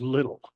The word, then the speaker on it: Liddell: of Eric little and it's pronounced little like John Cox's parents were called Liddell it's Eric little and 100 years ago